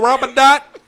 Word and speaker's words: Ramadan: And you saying it wrong. You saying it wrong, Ramadan.